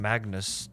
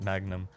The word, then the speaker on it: Magnus: for butchering the name maybe he's Magnus I think he's a Magnus not Magnum but yeah you got